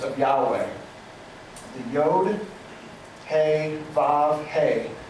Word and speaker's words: He: The Yod, He, Vav, He. It's H-E, but it would be like it rhymes with say or something like that.